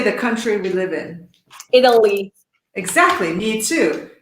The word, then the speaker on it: Italy: Italy. Exactly, me too. So the sound of these two is surprisingly similar. Italy and idle.